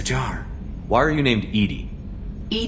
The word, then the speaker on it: EDI: airlock is a jar why are you named Edie Ed D is the phonetic pronunciation of e d that is an acronym